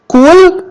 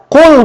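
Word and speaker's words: قل: Jadi kalau ibu baca kul pakai ka, itu artinya makan.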